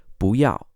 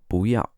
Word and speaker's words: 不要: However, when 2 fourth tones come together, the first fourth tone changes to a second tone. So it's actually pronounced as 不要, 不要.